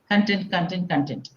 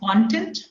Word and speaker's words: content: But it has two pronunciations depending upon the role it plays. One is content. You can just repeat after me, but with your mics muted, okay? Just say content, and the other is content.